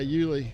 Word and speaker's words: Yuli: Yeah, Yuli.